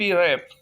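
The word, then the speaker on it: wrap: W is silent. RAP, रैप।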